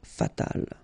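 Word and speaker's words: fatale: And then fatal, feminine form, you just add this final but then phonetically it's the same, fatal.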